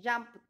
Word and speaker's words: jumped: Dice, pronunciamos la T después de los sonidos que sean, que tengan al final, que sean P, K, F, S, S o C. Ejemplo, jump, jumper, jumped, ¿no? Escuchen, jumped, ¿no?